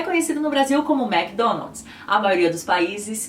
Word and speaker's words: McDonald's: E o famoso fast food de hambúrgueres, batatas e tal, é conhecido no Brasil como McDonald's. A maioria dos países que fala espanhol pronunciam como McDonald's. McDonald's.